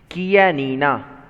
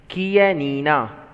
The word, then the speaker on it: Chianina: Chianina. Repeat it one more time. Chianina. Okay, and the last time, Chianina. Okay, so though it is CH, we are going to pronounce as K, Chianina.